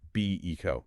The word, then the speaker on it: Beco: And remember that's BO pronounced BECO. Be eco.